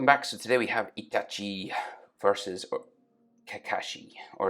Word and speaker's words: Itachi: itachi versus kakashi or as i used to say it before everyone made fun of me in the comments itashi that's right you bullied me into saying it right so i say itachi now because that's how you're supposed to say but uh this is